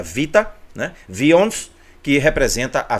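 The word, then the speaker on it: βήτα: é é o nosso Beta que a gente chama de Beta no alfabeto grego mas que na verdade a letra é pronunciada Vita né vions que representa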